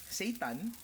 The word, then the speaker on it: seitan: Now, it's time to add the Seitan we made earlier to the pan. Not talking about Satan, it's just Seitan is how these are called.